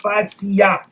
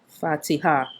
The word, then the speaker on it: Fatiha: The word is not Fatiha. It's written Fatiha. Fatiha. Fatiha. So when you say Okay. Fatiha, it's Y-A, but the word is H-A.